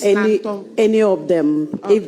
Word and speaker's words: Nanton: peace, That's how you pronounce Nanton. not Nanton. It's Nanton.